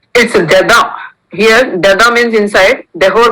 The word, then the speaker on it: dedans: It's dada. Here, dada means inside. Dehor means outside. S will not be pronounced in both.